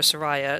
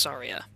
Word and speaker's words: Saria: Chen Sara my bad I used to call her Saria it turns out her name is pronounced Sara if I can set